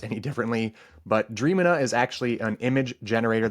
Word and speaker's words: Dreamina: tool an image generator called damina at least I think that's how it's pronounced d r a m dream i n a so forgive me if